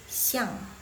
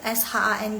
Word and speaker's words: shang: di tengah yang tengah C ang itu bacanya Shang bukan siang Chau Shang s h a n g nice try Wah